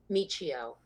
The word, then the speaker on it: Miccio: weeks and uh how do you say your last name proper Michio and can't meet you